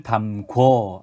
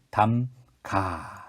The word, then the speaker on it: 담가: 김치를 담궈, 아니요, 김치를 담가.